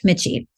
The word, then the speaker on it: Michie: Andrea and our guest for today is Mitchie prior to establishing cander advisors did I pronounce that right you got it all